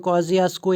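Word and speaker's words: Kosciuszko: यहाँ पे कॉजियास्को प्रोनाउंसिएशन मैंने आपको लिखी है क्योंकि थोड़ा डिफरेंट नेम लग रहा है, तो कॉजियास्को यहाँ पे इसको प्रोनाउंस करके आप पढ़ेंगे तो ये ऑस्ट्रेलिया की सबसे हाईएस्ट पीक मानी जाती है।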